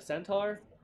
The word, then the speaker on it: centaur: A centaur?